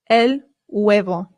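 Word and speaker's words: huevo: The H in Spanish remember is always silent. Always. Always. Always. I always hear Americans say and that is not correct. It is elo.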